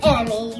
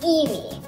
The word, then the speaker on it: Eimmie: I thought it was Emmy, you thought it was Eimmie, we found out it was Eimmie.